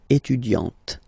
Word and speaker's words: étudiante: Okay, you don't really insist on the e, but you insist quite much on the t. Elle est étudiante.